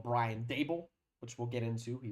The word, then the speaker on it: Daboll: Um we've got some uh discussion on a man called Brian Dable, which we'll get into. He was canned. Brian Dabble. Brian Dabble, as my dad would uh say.